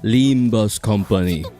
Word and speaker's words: Limbus Company: is pronounced Limba's company Wednesday.